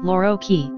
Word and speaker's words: Loro chi: Italian pronunciation, Lorochi, is a 2015 comedy film written and directed by Francesco Michicchi and Fabio Bonifaxi and starring Marco Cellini and Eduardo Leo.